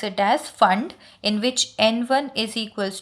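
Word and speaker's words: Pfund: Spelling is P-F-U-N-D. P is silent. We pronounce it as fund, in which n1 is equals to 5, n2 is equals to 6, 7 and so on.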